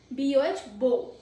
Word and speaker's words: bow: Bow. It rhymes as go bow.